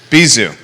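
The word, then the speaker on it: Bizou: downtown mall is bijou bizu bizu yeah of bijoubiza my wife would pronounce it bijou but but bizu yeah and it used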